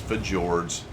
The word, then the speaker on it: fjords: himl what is this fjords we are on F jords that is how you pronounce it I don't want to